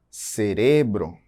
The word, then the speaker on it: cerebro: Temos aí o exemplo de cerebro, cerebro. Percebam que está grifado aí de vermelho que a sílaba mais forte está em re, cerebro.